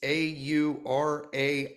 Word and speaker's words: Aurania: Maybe I'm not pronouncing it right. Aurania Resources. It's Aurania.